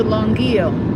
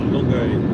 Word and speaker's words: Longueuil: But I thought that, see, we're going to Longueuil. Longueuil? Really? Longueuil, yeah. Longueuil, oh my gosh. Right. Not Longueuil.